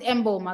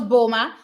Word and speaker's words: Mboma: the world stage today also that's the pronunciation mboma okay all right megastar pronounce it mboma because somebody said it was bulma so i was like